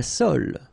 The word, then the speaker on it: sole: La sole, l'espadon, la truite, le maquereau, la lotte. La sole, same thing, don't insist on the final E, okay? It only gives you the L sound, sole, l'espadon.